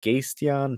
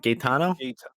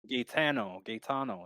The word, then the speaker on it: Gaetano: diondras taking on uh gasteon pirello uh i i pronounced that first name wrong but oh well sorry what is it gaetano gaytano yeah let's go with that oh yeah easy gaitano